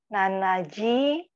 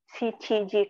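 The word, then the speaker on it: しちじ: Nanaji. Haji tidak diucapkan kan? Kemarin kata Bobby Sensei kalau untuk jam 7 itu Bapak ya? Tidak pakai nana. Shichiji kara kyuji desu.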